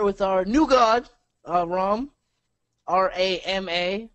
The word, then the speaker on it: Rama: R-A-M-A, pronounced Ram.